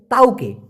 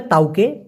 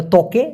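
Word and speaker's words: tauke: বুঝাইতে পারবেন এবার হচ্ছে তাওকে অনেকে বলে না দিয়া তকে বসার মূলত উচ্চারণটা হবে তাওকে অনেকে বলে ত্বকে এই তকে মানে হচ্ছে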